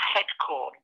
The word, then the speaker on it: Headcorn: in a village called Head corn it's spelled exactly as it sounds headcorn um it's on